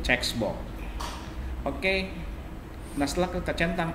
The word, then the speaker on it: checkbox: Hati-hati, checkbox bacanya bukan cebok ya teman-teman ya. Ini checkbox.